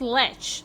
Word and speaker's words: lech: This should be pronounced lech.